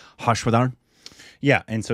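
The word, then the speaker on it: Harshvardhan: this is mispronounced but I believe his name is hashad yeah and so it's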